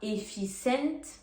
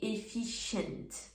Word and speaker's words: efficient: Parce que le C va faire le son CH. On dit pas efficient, on dit efficient.